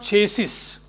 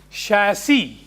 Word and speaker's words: chassis: So numbers is okay, that's the registration number, but the vehicle has this is not chassis as many people pronounce it as. It is chassis. Yes, chassis.